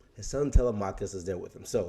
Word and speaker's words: Telemachus: problem is that he's got a son i pronounced his name to lamarcus his son telemachus is there with him so hey if i'm